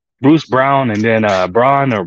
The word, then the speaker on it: Braun: Brown and then uh Braun or brown uh the other one they spell it b-r-a-u-n so it's still differently but they pronounce it as brown you know he's out